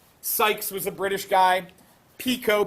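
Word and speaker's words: Picot: was a British guy Pico pic T you have that t that we don't pronounce so he's French the Sykes Pico agreement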